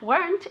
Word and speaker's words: weren't: a trial if you weren't on a diet okay remember that weren't is one syllable never ever ever weren't okay weren't once it weren't okay